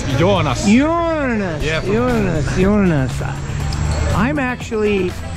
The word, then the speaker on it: Joonas: And you pronounce your name? No, it's Joonas.